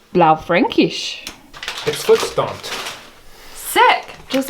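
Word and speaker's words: Blaufränkisch: then we have a how do you say that mike blow frankinch no i think it's blau frankish it slips don't sick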